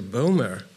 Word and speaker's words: Bomer: Bomer. If I pronounce it right.